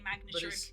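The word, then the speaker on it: Manectric: Same, I still say magnetric. But it's magnetric. Magnetric, As in like a main. because it has an electric main.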